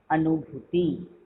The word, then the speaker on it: अनुभूति: न हर्षुकार, जिसको आप लोग बोलते हैं न में छोटा ऊ की मात्रा, जो कि बिल्कुल गलत है, इस तरह से इसका उच्चारण नहीं किया जाता है। न हर्षुकार, भ दीर्घुकार, त हर्षविकार, अनुभूति। न हर्षुकार नु, भ दीर्घुकार भू, त हर्षिकार ते, अनुभूति।